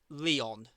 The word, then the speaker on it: Lyon: And Bayern beat Lyon. Mm. Please tell me I said that right. Yeah, Leon, you're right, yeah.